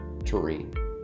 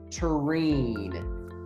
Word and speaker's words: Thorin: you just pronounce the the h is silent so turin i can't